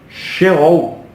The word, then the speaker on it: sheol: deixaram o corpo e a palavra é sheol é assim que se pronuncia uma palavra transliterada do